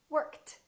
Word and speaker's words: worked: Work, worked.